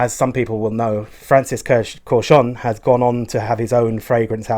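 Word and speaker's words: Kurkdjian: Now, I did used to say Kurdistan and things like that, but I've looked up on the website how you're supposed to pronounce it, and I believe it is Corchon. Okay, it's pronounced with loads of... It looks like it's meant to say Kurdistan or something like that. It's Corchon.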